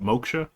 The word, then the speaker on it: moksha: is that as some goal that we call moksha or salvation whatever it is there's like many